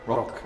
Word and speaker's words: Rok: Rok, okay. yes. And the last name? How do you spell that?